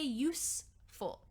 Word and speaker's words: useful: attention to this pronunciation when we say use there's some vibration happening here I use a camera to make this these videos but when you say useful it sounds like an S yeah useful useful so